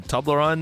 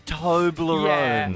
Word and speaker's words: Toblerone: You got some Toblerone there in the cupboard?